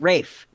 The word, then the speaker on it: Ralph: It's Rafe. Rafe. Rafe. Rafe fines. Rafe fines. Rafe fines. Fines is correct. It's not pronounced Ralph. It's pronounced Rafe.